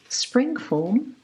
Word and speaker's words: Springform: Now take half of the batter and put it into a spring form. I'm not sure if it's the correct term in English. Well, it is a German word and we pronounce it Springform.